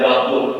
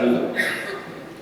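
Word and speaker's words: وضوء: cerita P itu Wadu itu bacanya Wadu ya bukan wudu kalau Wadu itu artinya air yang digunakan untuk wudu kalau wudu itu prosesi wudu makanya orang indonisa mengatakan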